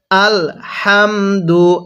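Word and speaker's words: الْحَمْدُ: হাম হ্যাঁ পড়ুন আল হাম দাল পেশ দু আল হামদু আরেকবার পড়ুন আল হামদু দেখুন আমি কিভাবে পড়ি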